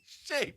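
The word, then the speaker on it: Shai: He's not shy. He's shay.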